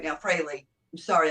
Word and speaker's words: Frehley: so he's with Ace fre right now Frey I'm sorry I always say it wrong it's not Frey it's Frey Ace Frey Andre Andrew Andrew